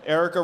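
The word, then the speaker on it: Aarika: Now, his opponent is Erica Rhodes, who's completely pro-Web3, and she also has a compelling personal story.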